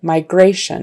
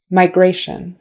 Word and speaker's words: migration: Migration. It's the next to the last syllable, and the shun at the end is always kind of dropped. Your voice drops. It's not stressed. Migration.